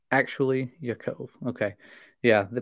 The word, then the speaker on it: Yaakov: Incarnate says, actually, Yaakov. Okay. Yeah, the pronunciations of names, I am not a name expert.